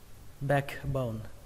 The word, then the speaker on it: backbone: a và e, nghe giống như âm e, đọc là back, back, backbone, đọc nhanh là backbone, backbone.